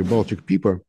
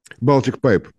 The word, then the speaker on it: Baltic Pipe: Напомню, что совсем недавно мы внимательно следили о том, как строили, у меня очень плохо с английским, извините, Baltic Pipa. Baltic Pipe, так это правильно читается.